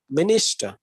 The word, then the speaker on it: minister: in 88 in english there will be three syllables like me nista okay so here we have to put a particular stress on a particular syllable that is in the middle is that minister okay so here this